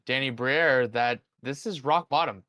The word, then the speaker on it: Briere: pronounce the last name? Danny Briere.